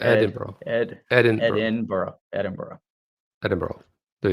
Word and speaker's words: Edinburgh: it right sorry well you got to emphasize the edin burrow it's like the edinburgh ed edinburgh edinburgh edinburgh